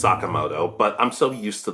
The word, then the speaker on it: Sakamoto: Yeah, I know it's pronounced Sakamoto, but I'm so used to the dub and, well, I'm just stuck with it at this point.